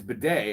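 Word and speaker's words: Badie: And Tyler, it's Bidet, I believe it's pronounced Bidet, with 14 snaps.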